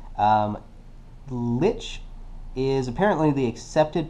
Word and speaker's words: lich: Uh, by the way, I looked up the pronunciation. Um, lich is apparently the accepted pronunciation. Although I was semi correct in pronouncing it lick because um, it is from German word.